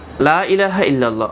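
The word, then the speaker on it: لا إله إلا الله: শিরিকি শব্দ উচ্চারণ করবেন কালেমা পড়তে গেলে প্রথমেই লা তিন আলিফ টান তিন আলিফ না দিলে কমপক্ষে এক আলিফ হলেও টান দিতে হবে লা ইলাহা ইল্লাল্লাহ অর্থাৎ আল্লাহ ব্যতীত কোন মাবুদ নেই যদি আপনি লা টান না দেন তখন অর্থ হয় কি অবশ্যই আল্লাহ ব্যতীত মাবুদ আছে নাউজুবিল্লাহ আর কতদিন কালেমাতে আপনি শিরিক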